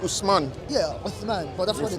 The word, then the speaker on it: Osman: Osman. Usman, That's yeah. how it's supposed to be pronounced.